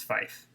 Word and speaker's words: Phife: Wait, how do you spell it? Phife. Fife. Pife. PH, so it's Fife. Oh. PH. PH. Fife.